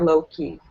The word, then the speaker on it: Loki: That's what I said before, Loki.